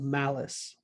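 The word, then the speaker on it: Malus: called the law of malice now it sounds like an evil equation but it's not spelled the same way it's not unfortunately it's not malice like evil is malice m-a-l-u-s a person's name the law of malice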